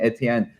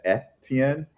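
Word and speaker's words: Étienne: like I do like I always went with the Etienne because like that's how like Haitian students I've had like that's how they like that's from their French Creole like pronounce it that way. So like yeah, like I mean of course I see that word and there should in theory be an accent aigu on the E, which would be a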